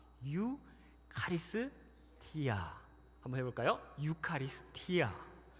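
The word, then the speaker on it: εὐχαριστία: 카리스 앞에다가 유, 카리스 뒤에다가 티아 붙이면 됩니다. 유 카리스 티아.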